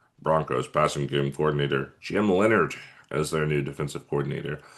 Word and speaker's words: Leonhard: Um, so Jim Leonard, Leonard, Leonhard is how it's spelled. Um, which is strange, but I assume it's Leonard.